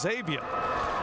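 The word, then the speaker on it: Xavion: got to be good exactly Xavier but it's pronounced Xavier play action long pass receiver is there Robinson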